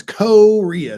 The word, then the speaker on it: Korea: declare martial law Korea it's Korea is how that's pronounced Korea oh see you know you gota listen to the Hicks more it's Korea you gotta have the accent on the first part Korea do they smoke